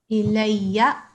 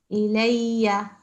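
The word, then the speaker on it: إليّ: Ilayya. You see this? Ya has the shad on it. And the fatha. Ilayya.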